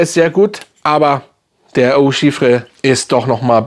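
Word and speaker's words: Eau Givrée: ist, weil an diesen Eau Givre, wenn richtig ausgesprochen, Eau Givre, kommt auch der nicht ran.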